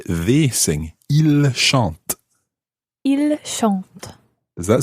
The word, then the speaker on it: ils: So we've got il in the plural, I-L-S, il. Il. But the S is silent unless it's followed by a vowel.